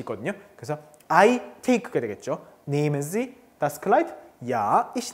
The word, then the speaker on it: nehmen: 여기서 nehmen, 자, 모음 다음에 하가 붙어 있으면 모음을 길게 발음한다 그랬죠? nehmen, 그쵸? nehmen, 여기서 에 다음에 하가 있기 때문에 모음을 길게 발음했습니다.